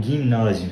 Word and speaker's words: gymnasium: a playlist de ginásio, ou gymnasium, se a gente falar na pronúncia correta do latim clássico, não do latim eclesiástico.